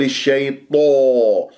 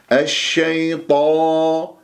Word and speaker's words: الشيطان: طاء مفخمة مرتبة أولى مفتوحة بعدها ألف طاء، لا تقول الشيطان، لا تكور الشفاه، دائما المرآة أمامك وأنت تتدرب على نطق حروف الاستعلاء السبعة خصة ضغط قيض المفتوحة والمفتوحة بعدها ألف. الشيطان شيطان وليس طو، انتبهوا، نو له نو